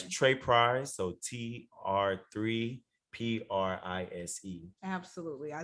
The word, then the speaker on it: Tr3prise: I don't want to repeat your name and spell it. It's Trey Price, so TR3PRISE.